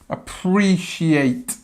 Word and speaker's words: appreciate: I really appreciate it have a look at the pronunciation really appreciate shate sh sh the sound of the middle make sure you get that right I really appreciate it